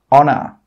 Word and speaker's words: honor: Another rule with H is that H is sometimes silent when it comes at the start of a word. Some common examples are hour, honest, honor. In all of these words, we are not pronouncing the H sound. We are not pronouncing the letter H.